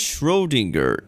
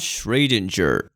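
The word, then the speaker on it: Schrödinger: It is Schrodinger, not Schraedinger. Even Komoe, who reveals a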